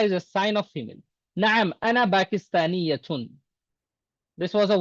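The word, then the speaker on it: نعم: नाम नहीं बोलना. Na'am. अरबी में बात करेंगे तो अरबों की तरह बात करना.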